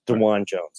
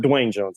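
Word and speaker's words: Dawand Jones: say is it uh Dwayne Jones yes it's DeJuan Jones It's Not Dwayne Jones I had someone you know around me one day call him Dwayne yeah I was thinking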